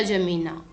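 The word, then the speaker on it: N'Djamena: छड़ जामिना है ना, छड़ द जमीना, छड़ जामिना। तो डी साइलेंट है यहाँ पे, जमीना ही बोलते हैं इसको।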